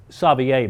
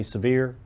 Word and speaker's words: Savier: john tipton and john savier by the way they don't know how to say it around here they say severe john savier was also